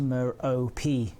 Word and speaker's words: Merope: Scott Manley says that it's pronounced Merope, and I kind of believe Scott Manley, I'm going to have to say, unfortunately.